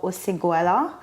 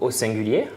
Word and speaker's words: Osinguliers: So indeed, so it's basically called Osinguliers, so it's the way to find. It's French, that's why it's pronounced this way.